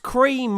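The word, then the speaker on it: Creme Egg: It's pronounced cream, so it's a cream egg. It might not meant to be, but it's just pronounced cream.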